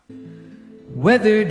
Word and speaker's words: weathered: Whether the faces lined in pain 여기서도 ed 발음을 왜 살려보라고 했느냐면요. 발음을 할 줄 알면은 들리지만 발음을 할 줄 모르면은 안 들립니다.